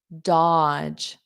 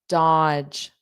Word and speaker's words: dodge: And notice that pronunciation, odge, dodge, dodge, dodge. That second D is silent, dodge.